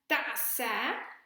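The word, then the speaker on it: تأس: tense is pronounced as ta'asa but there is an alif maksura at its end that you cannot see here because the alif maksura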